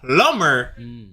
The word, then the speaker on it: plumber: But when it says plumber, you don't pronounce the B.